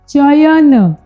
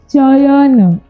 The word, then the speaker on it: चयन: शब्द को क्या बोलोगे, चयन। तो च के बाद हमें अय सुनाई दे रहा है। हम जब प्रोनाउंसिएशन कर रहे हैं तो उच्चारण कर रहे हैं तो हमें अय मिल रहा है, चयन, अयन, अय, चयन।